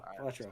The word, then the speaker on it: Balatro: Did I pronounce that right? Yeah. Balatro.